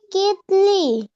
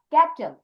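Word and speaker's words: kettle: কেতলি। না, ক্যাটেল। ক্যাটেল।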